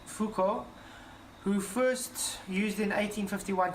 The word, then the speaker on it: Foucault: Venture is named for the French visitors jean-focal pronounced Foucault who first used in